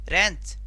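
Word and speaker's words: wrench: उसके बाद आया रैन, उसके बाद रेंच, रेंच नहीं आर ई आया तो रिंच बन गया। क्या बन गया, रिंच, ये हो गया रिंच, डब्ल्यू ध्वनि नहीं आ रही है।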